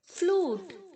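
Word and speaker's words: flute: हैं next page पर फ्लूट फ्लूटेड फ्लोटेड यहां पर जो यू है बच्चों वह ओ की तरह साउंड करेगा ओके फ्लूट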